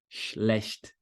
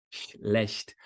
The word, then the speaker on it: schlecht: Sh, sh, schlecht, schlecht. Para não correr o risco de você querer colocar um I, fazer ish, ish. Não tem som vocálico aí, é só chiado, ó, o comecinho, né?